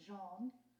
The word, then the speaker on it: Jeanne: I learned by reading the book that I should be calling you Jeanne. That's right. So I've been pronouncing it wrong for 23 years.